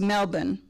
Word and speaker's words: Melbourne: we went on to melbourne as brian said the r is not pronounced so we flew from